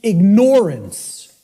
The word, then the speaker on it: ignorance: I tell people, start pronouncing it ignorance. Ignorance. Then people will hear the word ignore in it, and the connotation becomes clear.